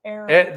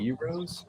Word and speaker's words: Arrows: Arrows. That's right. Arrows. Yes. I had trouble pronouncing this. Say it. I don't know. Eros. That's how I said it that one time. I know. I was wrong.